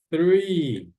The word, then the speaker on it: three: Quando vocês forem pronunciar o som do TH em inglês, vocês coloquem a pontinha da língua entre os dentes de vocês.